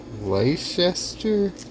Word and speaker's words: Leicester: Someone said how to pronounce it. Leicester cheese.